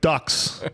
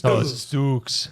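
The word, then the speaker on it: Dux: Frank Ducks. All right? There's no ducks. It's Dukes. It's Dukes. Yeah. Whatever. Come here. I can understand where you would think that though, because it's spelled like ducks.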